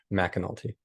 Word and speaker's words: McAnulty: us it's so it's spelled MCA but it's pronounced McNulty awesome awesome well